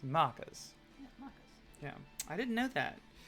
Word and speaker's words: Maccas: how to say it because you say maccas it's macas yeah I didn't know